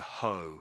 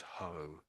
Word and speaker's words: hoe: So it's a hoe. It's pronounced as hoe. Ho. Ho. Yeah. Ho. Yeah. So you could say the E is sort of silent in a way, but but but often